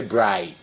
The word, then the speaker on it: braai: But they don't say barbecue, they say braai.